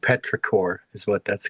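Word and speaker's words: petrichor: It's actually called Petraore is what that's called. I'm looking it up. Yeah, it's my new word for the day. Petraore.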